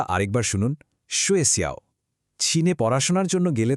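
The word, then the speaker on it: 学校: উচ্চারণটা আরেকবার শুনুন। সুয়েসিয়াও।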